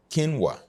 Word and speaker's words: quinoa: u i n o a but it is pronounced kinwa as ke n kin and then w a